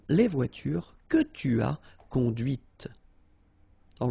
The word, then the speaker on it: conduite: And that's when you hear the difference between conduit, because remember, final T is not pronounced, conduit, here, and then the feminine, conduite. Okay, so here you can listen to this T, T, okay, conduite, right?